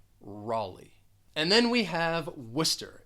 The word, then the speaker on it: Worcester: now you know how to say this city worcester and then we have new york it is